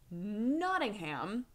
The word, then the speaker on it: Nottingham: pronounced it the H it's not that you don't pronounce the h it's that it's a soft H not a hard H and now I don't